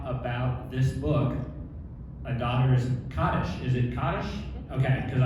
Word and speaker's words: Kaddish: So here we are today to talk about this book, A Daughter's Kaddish.